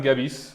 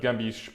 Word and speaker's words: Gebis: His name is Krystian Gebis. That's how you pronounce it in Polish, or I guess it'd probably be Gebis, but Krystian Gebis, or Christian.